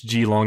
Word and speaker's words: Geelong: I think it's Geelong. I actually looked it up since I mispronounced it the first time, but as it states,